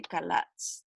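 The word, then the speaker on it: חָלַץ: palabra, se pronuncia ja, cuando es al principio la CH es K. Entonces se dice kalatz. Kalatz es la palabra librar en el Antiguo Testamento.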